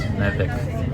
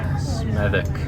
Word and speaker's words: Smethwick: This is pronounced Smethwick. Smethwick.